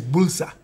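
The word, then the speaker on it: Builsa: And it's Bulsa. Bulsa. Yes. The I is silent.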